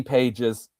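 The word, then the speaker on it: Pages: And yes, Andy Paises after his postseason performance.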